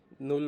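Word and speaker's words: null: সিস্টেমটা কিভাবে বলে যার মানে হচ্ছে জিরো কে নল বলে জিরো কে বলে হচ্ছে নল এন ইউ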